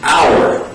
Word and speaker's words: hour: the letter H but these are among the few words in English that have a silent h sound most H's in English